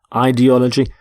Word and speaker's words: ideology: You can have a political ideology.